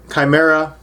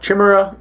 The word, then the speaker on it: Chimera: As we know from Greek mythology, the Chimera, sometimes pronounced Chimera in American English, was a monster from Greek mythology, generally depicted as having multiple heads.